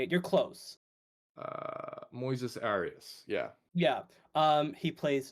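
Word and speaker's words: Moises Arias: that's how you say it you're close uh Moises Aras yeah yeah um he plays Norm uh short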